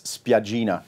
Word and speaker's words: Spiaggina: It's Spiaggina, which means little beach in Italian. Not Sagan.